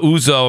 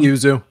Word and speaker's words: Yuzu: big deal the Nintendo emulation lawsuit with uh uzo I'm probably saying it wrong I always pronunciate everything in terms of Italian Uzu thank you um Yuzu Yuzu thank you again spawn what's The Good